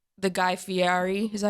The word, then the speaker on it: Guy Fieri: I obviously don't remember the first time I tried an egg, but I'm like the Guy Fieri.